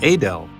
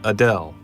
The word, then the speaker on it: Adel: would say it so here we go again it's a Dell not Adele a Dell is the seat of